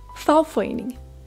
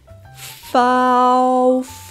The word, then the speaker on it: fagforening: kontrakt kontrakt fagforening farforening Vi starter med f som flaske a som aldrig givet bliver til et u som ule så har vi e som en n som næse e som en igen Og vi slutter på NG så n g lyden ng farforening farforening fradrag fradrag Vi